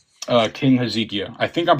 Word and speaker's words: Hezekiah: Uh King Hezekia. I think I'm pronouncing that correct, but it's H E Z K I A H. Yeah. He Hezekiah. Hezekiah.